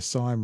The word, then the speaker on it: Syme: Peter Syme rhymes with time.